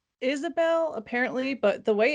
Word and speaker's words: Isobel: It's Isobel, apparently, but the way it's spelled, it's definitely like a Scandinavian looking spelling.